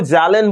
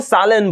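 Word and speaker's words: Zahlen: इसको दो तरीके भाई इंडियन में जो भारतीय लोग हैं उसको इसको जालन बोलते हैं। क्या बोलेंगे? जालन। लेकिन इसको जर्मन में सही तरीके से प्रोनाउंस करोगे तो इसको सालन बोलेंगे। क्या? सालन। सालन।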